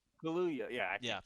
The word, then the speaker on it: Kaluuya: Kylude? Am I saying Oh, that Daniel right? Kaluuya. Kaya? Kaluuya.